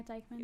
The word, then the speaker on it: Dykeman: Yeah, Dykeman. Ooh, look at me. Okay, she said, pronouncing things correctly.